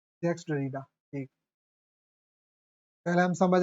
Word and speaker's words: Jacques Derrida: लें इनको ये है जैक डरीडा है ना हां या इनको जैक्स डरीडा भी बोला जाता है प्रोनाउंसिएशन इनका ये है जैक्स डरीडा एक पहले हम समझ